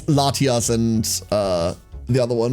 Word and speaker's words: Latias: It would be pronounced Latinos. I mean, it's Latias and uh the other one, right?